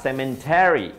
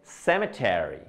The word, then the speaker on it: cemetery: palabra quiere decir cementerio y en español le ponemos una N por aquí. Cementerio. Entonces, cuando la gente lo pronuncia en inglés también dicen, ah, cemetery, cemetery. Pero realmente no. Se dice cemetery, cemetery, cemetery.